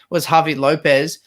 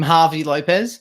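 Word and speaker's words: Javi López: Was Javi Lopez. Came on playing as a right back, or as Speedy called him, Harvey Lopez.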